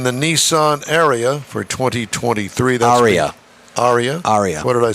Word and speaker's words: Ariya: Aria.